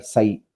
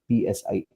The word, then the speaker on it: psi: The other component of this hydraulic head is the suction head, which is denoted by this Greek letter psi, psi. It's pronounced like psi.